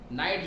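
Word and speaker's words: knight: अगर रुक जाएगा तो रुक के लिए R, बिशप जाएगा तो बिशप के लिए B, नाइट जाएगा तो नाइट के लिए हम K नहीं लिखेंगे क्योंकि K साइलेंट होता है, वहाँ हम N से डिनोट करेंगे।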